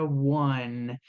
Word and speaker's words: one: A letra N em inglês ela é pronunciada com a pontinha da língua no céu da boca. Fica assim, one.